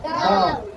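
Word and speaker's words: dawn: इसका उच्चारण होगा औ, डी का होता है ड, एन का होता है न। जब ये तीनों को जोड़ेंगे तो ये बन जाएगा डॉन। क्या बनेगा? डॉन।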